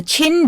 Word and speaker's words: Qin: So under this unit we are going to be studying about the Chin Dynasty. Although the spelling may be Q I N, the pronunciation of this word is chin.